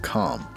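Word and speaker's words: Kalm: I was stunned when I first got out of Comm. I I think that's how it's pronounced. There's a K in there, so it confuses me cuz Yeah.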